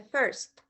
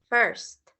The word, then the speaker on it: first: Let's remember, guys, lo que les dije de la pronunciación de first. La I suena como una E, ¿ok? So, first, first.